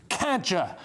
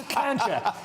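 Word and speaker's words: Kadjar: Her car is called a Renault Kadger. It's literally called a cadger.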